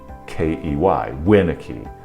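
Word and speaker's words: Winakey: If we were to use my name as an example, if it shows up with the first syllable in capital letters, W-I-N, then A-K-E-Y, Winnicky, you know how to say it, emphasizing that first syllable.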